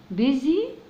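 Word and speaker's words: busy: وبعدين الاس وبعدين الواي مش هقول بي سي ولا بيو سي لا بيزي هي ليها نطقها كده بيزي وهنا البي وراها دبل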